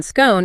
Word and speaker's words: scone: The long O sound in scone is associated with received pronunciation or RP, which is what people would call the Queen's English.